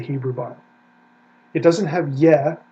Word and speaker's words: Yah: It is ah, a vowel, ah. Okay? If we want to look at it in the Hebrew Bible, Exodus 15:2, right there it is, ya.